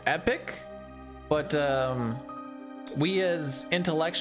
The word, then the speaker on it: Epoch: to play with technically it's pronounced epic but um we as intellect uals will always call it the epoch there is a bunch